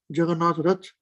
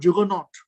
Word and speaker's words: Jagannath: is starting to roll jagannatha in english the word juggernaut is actually a mispronunciation of jagannath juggernaut the perfection is